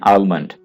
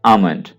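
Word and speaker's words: almond: अक्सर लोग इसको गलत प्रोनाउंस करते हैं और कह देते हैं आलमंड। तो सही जो इसकी प्रोनाउंसिएशन है वो है आमंड। यहां पे आपने एल को साइलेंट रखना है और प्रोनाउंस करना है आमंड।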